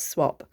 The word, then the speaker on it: Swap: And I think Swap is a Dutch name, not pronounced like that if you're in Holland, but it's Swap, and his name was Ronald.